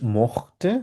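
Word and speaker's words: möchte: খেতে পছন্দ করিনি এখন ই মখতে এটা ক্ষয়ের মত উচ্চারণ হবে খেয়াল করবেন মতে দু মতে ইয়াজিয়াস মখতে ভিয়া মতেন ইয়া মতে জিজি মট ঠিক আছে এটা ক্ষয়ের মত উচ্চারণ করবে এখানে একটা হচ্ছে মেশে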